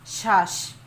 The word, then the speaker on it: শ্বাস: বা চাপ দিতে হবে শ্বাস শ্বাস দেখো একটু চাপ দিয়ে জোরে উচ্চারিত হয়েছে শব্দের মধ্যে বা শেষে